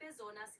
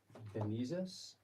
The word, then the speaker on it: bezonas: Okay, li benizas. How do you say that word, benizas? Bezonas is how you say needs.